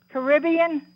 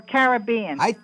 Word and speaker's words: Caribbean: yeah, Caribbean or Caribbean? I think on that one both are correct.